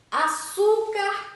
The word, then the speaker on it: açúcar: Açúcar cristal. Açúcar. Açúcar. A sílaba tônica é o su, não é? Açúcar. e tem o som aberto, ou seja, também tem acento agudo.